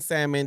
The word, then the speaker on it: salmon: has their accent, but the L in salmon just Hey, if you can forgive it and and make it disappear from your mind, but for me it was like the L is there. It's there for a reason not just to separate the M and the other letters.